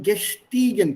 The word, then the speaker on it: gestiegen: Then gestiegen, please mind the pronunciation. Gestiegen, steigen, stieg, Gestiegen. gestiegen. The spelling changes from EI to IE. To I.